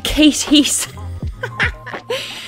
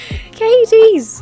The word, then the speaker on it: Cadiz: Oh, if she could only hear the way other cities are pronounced. Going to Versailles? No, it's Versailles. Been to Cadiz? No, you went to Katie's. Katie's!